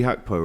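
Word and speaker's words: Gakpo: you know what Cody hackpo right that's how you pronounce it in in Holland yeah that's actually how you do it Jack Collins taught me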